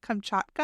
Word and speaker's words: Kamchatka: Kamchatka.